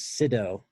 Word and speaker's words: Sydow: the last name is Sydow and it rhymes with kiddo as my grandma says so that's right so